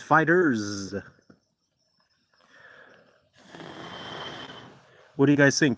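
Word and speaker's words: FighterZ: I believe, Kenneth, I believe it's pronounced Dragon Ball Fighter Z, though. Okay, good. Because I thought the developers were they made a statement. They said, it's fighters.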